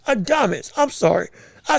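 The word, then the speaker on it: Adames: If we talking about No, not I'm sorry, not Adams. Adamus.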